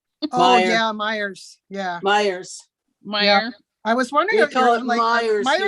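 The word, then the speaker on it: Meijer: to pronounce is just mayor there's just a j in there but it's pronounced mayor oh yeah myers yeah myers meyer i was wondering about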